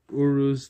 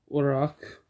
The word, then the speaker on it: Uruz: We are going to be doing Uruz tonight, or Uruk, however you want to pronounce it.